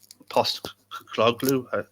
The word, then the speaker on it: Postecoglou: They've got a new manager and Postecoglou.